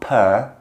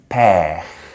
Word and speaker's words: père: It's not per with the in the front of the mouth like we do in English. Like in Britain, we say per, and in America, per, more rounded. It's père, père.